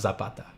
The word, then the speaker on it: Zapata: pronounced Zapata or Zapata it's actually pronounced Zapata but whenever I uh whenever I'm saying my own name in a joke I always take the uh the Spanish out of it and say it the way um non-spanish people say I would say Zapata it makes me laugh